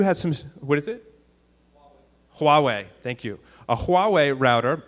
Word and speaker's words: Huawei: so say there was a sixel or a Hawaii router I think that's how you pronounce that that had that you knew has some what is it Huawei thank you a hawawa router they had some